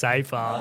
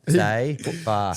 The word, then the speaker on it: Seyfarth: And I'm like, dude, it's Alex Seyfarth. Like, come on. Say far.